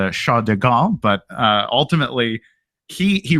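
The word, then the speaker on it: de Gaulle: but there was uh I'm American so I'm gonna say Charles deal I'm sure there's a much more elegant French way to pronounce sha deal but uh ultimately he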